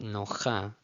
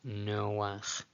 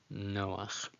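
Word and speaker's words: נֹחַ: When the patach is under a chet at the end of a word, the vowel is placed before the consonant. It's pronounced before the consonant. So it's not nocha, nocha, it's noach, noach.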